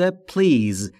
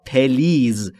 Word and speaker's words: please: خیلی از زبان آموزا به اشتباه تلفظ میکنن please یا please. این دو تلفظ اشتباهه. تلفظ درست به این صورته please، بین p و l صدایی وجود نداره.